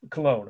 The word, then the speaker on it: Cologne: method of taking your exams anyway so uh cologne of course is the pronunciation so why is this the one Cathedral